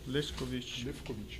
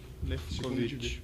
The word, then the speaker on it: Lewkowicz: Lefkovic. Esse é o primeiro W, é a som de F. Lefkovic.